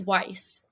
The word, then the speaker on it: Weiss: It's Weiss.